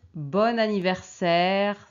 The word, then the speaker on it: bon anniversaire: quelqu'un joyeux anniversaire et on prononce joyeux anniversaire parce qu'il y a X et a et on peut dire bon anniversaire parce qu'il y a n et a bon anniversaire bon anniversaire